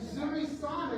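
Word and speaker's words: nzuri sana: So, and Zuri Sana is how you say, I'm good in Swahili. Can you say in Zuri Sana?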